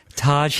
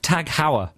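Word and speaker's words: TAG Heuer: what about you i i used to pronounce it like the taj mahal taj hey no tag hauer that's what i used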